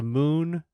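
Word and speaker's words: Mün: Okay, the monster is it's a moon. It's the moon, but it's spelled M-U with an umlaut and then lowercase n.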